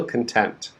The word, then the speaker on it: content: work some notes okay many times students they want to say the second word content but they say content and it's very confusing okay so the second word the stress is on the first syllable khan so you need